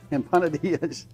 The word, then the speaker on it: empanadillas: Empanadillas.